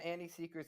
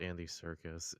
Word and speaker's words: Andy Serkis: were for Jungle Book did that and then Annie Seekers decided hey let's just fill one in the jungle like act people yeah so it just wasn't it's pronounced Andy Serkis yeah anyway so yeah dawn ups rise by